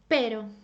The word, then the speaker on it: pero: perro a dog perro now you can also pronounce it very Softly As in did you see my tongue it just goes up and down only once very Softly very very softly for example pero pero that means but for example